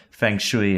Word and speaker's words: feng shui: There's really good feng shui in this room, looking out over downtown Toronto.